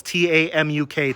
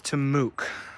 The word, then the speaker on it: TAMUK: pronunciation of these uh it's it's the initials t-a-m-u-k Texas A M University Kingsville the proper pronunciation is to Mook so these are tamuk rabbits they were bred